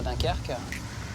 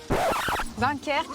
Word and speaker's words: Dunkerque: Il n'y en avait pas ou ça manquait sur Dunkerque.